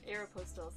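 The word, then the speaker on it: Aéropostale: The next one at Aeropostale, I hope I'm saying it right. Yeah, I've been saying it wrong. It's Aeropostale, sorry you guys.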